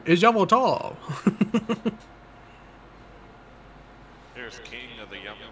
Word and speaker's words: Yveltal: Xerneas, which represents life and rebirth, and Yveltal, representing destruction and death. The power to grant life and the power to steal life. Huh? You're saying it wrong. Yveltal.